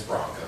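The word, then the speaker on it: Branko: Well, first of all, my name is Bronco. For those of you who don't remember, yes, that's my actual name. It's not. It sounds like the horse, but it's spelled like a Croatian style, B-R-A-N-K-O.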